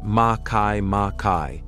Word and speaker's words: Makemake: was inevitably forced to follow suit make make pronounced maai maai was spotted 2 months after ays and at